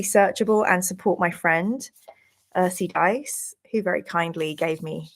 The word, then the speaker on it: ursidice: It's pronounced Earthy Dice.